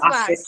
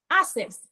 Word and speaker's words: access: That word has double C. I understand that there are many words that have double C in them, and maybe they do not have a K sound. But this word has a K. You have to pronounce the K.